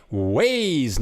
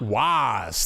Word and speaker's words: Waze: it one more thing it's pronounced why ways okay waze not wise thank you very much